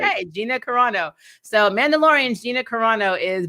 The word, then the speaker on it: Carano: Okay, Gina Carano.